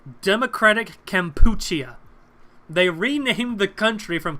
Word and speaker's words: Kampuchea: for you I said I think it's pronounced Kampuchea camp but I'll be honest I